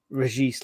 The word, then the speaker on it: Reis: to I I like Reis La apparently you pronounced the s's I was told um